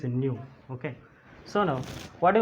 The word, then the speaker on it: nu: How to pronounce this symbol here? That is nu.